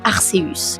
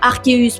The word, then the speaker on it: Arceus: Alors le meilleur compromis pour le public francophone semble être de l'appeler Arceus car il n'y a aucune raison de prononcer le C comme un cas, du moins en français.